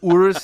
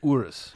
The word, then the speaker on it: Urus: that's it's two but yes continue anyways and Urus is the fastest SUV around the N ring